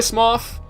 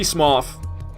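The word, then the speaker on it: Smough: loves orstein and SM some people say small it could be smof but I say SM orstein and small are really [ __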